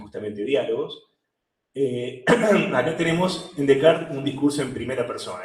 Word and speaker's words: Descartes: René Descartes, se pronuncia, ustedes le pueden decir Descartes, incluso con bronca, Descartes, o pueden decirlo más en casi francés, como lo hago yo, que sería Descartes, eliminar la primera S y la TS al final, Descartes.